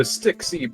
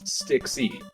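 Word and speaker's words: Stxy: Mount Hydra is the Styxy Prison. Now, I pronounced that weird because it is an actual grammar error in the game where it is misspelled, and it's not the key of Styx, it's Styxy.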